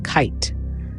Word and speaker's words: kite: Another example is kit. Add an E and it becomes kite. The silent E lengthens the vowel I, changing its sound from short to long.